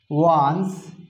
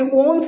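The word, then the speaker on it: once: দেখুন তো আমি একটা এক্সাম্পল লিখি, আমি লিখছি হি was dash ওয়ান্স famous singer. দেখুন তো ও, আমি কি বলছি ওনস বলছি নাকি ওয়ান্স বলছি?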